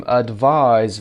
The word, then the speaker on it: advise: با اینکه گفتیم advise وقتی میگیم verb هست با s هستش و صدای z تلفظ میشه، میتونیم بگیم can you advise me؟